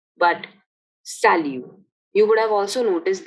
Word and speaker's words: salut: hello mind you that in french the last letter of a word is usually not pronounced so we don't say salute but salu you would have also